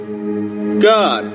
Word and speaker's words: Gad: up next to it, G-A-D, God, the same way it's pronounced in Enoch, with that little vowel point above the A.